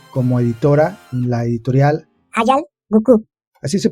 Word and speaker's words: Hayal Gücü: editora en la editorial Hayal Gukü. ¿Así se pronuncia, Ilse? Es Hayal Gukü porque es una palabra en turco. Es Hayal Gukü porque es una palabra en turco.